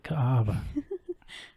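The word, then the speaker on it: Kaʻaʻawa: Ka'ava. I know. I'm always afraid to say it. So I let you say it. Ka'ava. Kaawa.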